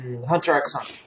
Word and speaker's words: Hunter x Hunter: Gone from Hunter x Hunter. Yeah, he can't. You don't pronounce the X.